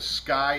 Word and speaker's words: SCCY: Today we're going to talk about the Sky CPX2. And this is it right here. Sky, which is spelled SC CCY, formerly known as SK Y, like the vodka company.